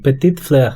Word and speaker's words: Petite Fleur: Sí, es Petite Fleur.